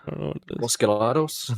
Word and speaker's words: Los Gatos: Los Gatos? No, Gatos, Gatos. I said it very gringo.